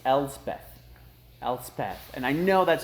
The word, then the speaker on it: Elspeth: last planeswalkers we're gonna go over Little Miss elves Beth oh no it's Elspeth Elspeth and I know that's how you pronounce that oh yeah Elspeth it's Elsbeth it's